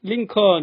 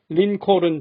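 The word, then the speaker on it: Lincoln: 그 유명한 la 에 dc 여행은 링컨 이라고 하지 못하고 링 콜은 처럼 순 한국식 영어로 읽은 기억이 있습니다 제가 올린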